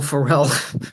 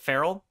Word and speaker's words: Ferrell: How do you pronounce it? Farrell? Yes, Will Ferrell. Ferrell. Will Ferrell? You pronounce it like Pharrell. Like Pharrell, like Pharrell Williams.